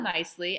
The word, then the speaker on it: Nicely: h-a-l-a really yeah shala nicely and i see nicely like you'd say oh you did that so nicely she's a lovely human